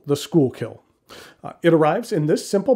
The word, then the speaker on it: Schuylkill: the dutch pronunciation but the people of the pennsylvania region pronounce it schoolkill in a rough translation